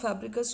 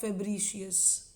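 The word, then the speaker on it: Fabricius: बहुत लोग इसको बर्सा ऑफ फैब्रिकस बोल देते हैं, ये आमूमन जो नॉर्मली हम बोलते हैं वैसे फैब्रिकस बोल देते हैं। Technically if you want to pronounce it, इट is going to be like bursa of फेब्रिशियस।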